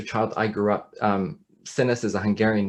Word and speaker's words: Csinos: i grew up um sinus is a hungarian name it's actually pronounced chinosh in hungarian and i grew up